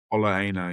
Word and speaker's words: Ola Aina: I've also put down um uh Ola Aina, is that how you pronounce it? From Forest. Ola Aina, yeah.